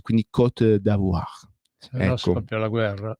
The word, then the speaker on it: Côte d'Ivoire: Attenzione che per gli amici a Costa d'Avorio non si pronuncia in italiano, va pronunciato solo e soltanto in francese, quindi Côte d'Ivoire.